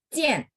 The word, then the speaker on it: 见: 明天见， Jian. J itu bacanya C.